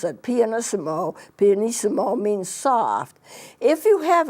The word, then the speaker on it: pianissimo: have a triple P that's very soft called pianist mo that's how you pronounce it pianist mo pianissimo means soft if you have an F that's